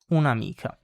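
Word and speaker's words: un'amica: with a vowel like unamika and you pronounce it like it's all one word.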